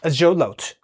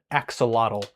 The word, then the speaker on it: axolotl: I am making an axolotl, or as you might know it pronounced, which is incorrect, axolotl.